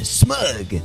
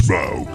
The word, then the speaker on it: Smaug: And I call this one smug. Rhymes with Grug. It's Smaug.